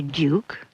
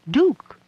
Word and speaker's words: duke: Some people say duke, and some say duke.